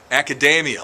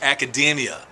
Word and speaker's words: academia: and the announcer kept saying the word academia academia like macadamia nuts there's only one problem it's academia so nothing works better than